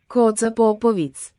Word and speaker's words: Koča Popović: Koča Popović. There you go, that's how you say it.